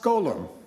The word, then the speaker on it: GGLLMM: new category, which is, as an acronym, is GGLLMM, which is pronounced Golem, which is just a way of saying that some of these models are doing some pretty bizarre things.